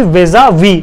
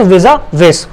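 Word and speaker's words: vis-à-vis: यहाँ पे हम कंपैरिजन कर रहे हैं 2007 और 2009 का, तो इसकी प्रोनाउंसिएशन क्या रहेगी? वीजा वी, नॉट वीजा विस।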